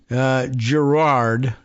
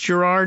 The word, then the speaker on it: Girard: Upstart's CEO and co-founder, Dave Girard, it's a very odd, but Frenchified spelling, but is it pronounced Girard maybe, or Girard? Giro, Giro, U-A-R-D, Girard, but so probably just Girard for anglicized speakers, participated in the U.S.